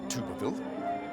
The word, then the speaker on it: Thibouville: I'm playing Robert THIBOUVILLE. Fun to pronounce it because not many can.